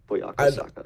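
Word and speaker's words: Bukayo Saka: Buyako Saka.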